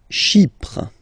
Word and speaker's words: Chypre: Chypre. So remember, we've got this Y letter here, but then phonetically when you pronounce it, it's like I, okay?